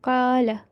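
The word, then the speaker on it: قَالَ: Okay, do not prolong the fatha on lam. Only for 1 Okay. second we'll be doing qala.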